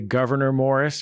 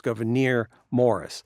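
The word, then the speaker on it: Gouverneur Morris: decided on goir but it is a little tough because it's two accented syllables in a row so it's goir Morris so Governor Morris is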